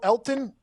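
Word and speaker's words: Elgton: game uh elton jenkins l elton elton l elkton silent g elton hey real g's move in silence like lasagna dude elton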